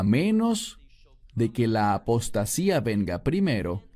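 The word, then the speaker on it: ἀποστασία: La palabra aquí es apostasía en griego que se pronuncia igual.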